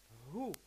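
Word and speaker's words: הוא: So the word or the personal pronoun he in Hebrew is who.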